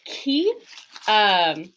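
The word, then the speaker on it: chi: this is another one where we, as English speakers, often want to make this a ch sound with that ch, but this is more of a ch in English that we see in like the word chaos, where it's that aspirated c. It's the k sound with the h sound after it.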